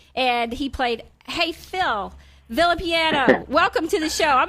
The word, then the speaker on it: Villapiano: good good friend uh phil villapiano now filipiano depending on how you want to how you want to pronounce that he played football